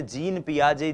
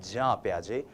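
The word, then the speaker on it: Jean Piaget: जी हां, हम इनको हिंदी भाषी लोग अक्सर जीन पियाजे जीन पियाजे कहते हैं। लेकिन यह जो जीन शब्द है जे इ एन जो ये स्पेलिंग है ये स्पेलिंग जो है इसका उच्चारण जब आप स्विस भाषा में करते हैं यूरोपियन कंट्रीज में करते हैं फॉरेन ऑथर्स को पढ़ते हैं तो वो होता है जा पियाजे। तो हम भी जा पियाजे बोलने की कोशिश करेंगे।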